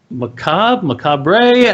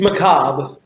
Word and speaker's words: macabre: CEO, director, producer, and creator of Masterfully Macabre. How do you pronounce that? It's macabre.